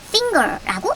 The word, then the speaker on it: finger: 받침 소리가 나고 기억 소리가 하나 더 얹어져서 finger라고 읽어야 됩니다.